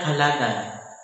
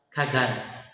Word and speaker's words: Kalagan: sunlight touches eastern mindana this evolved into kaalagan and later kalagan the spanish colonizers mispronounce it as kagan despite differences in religion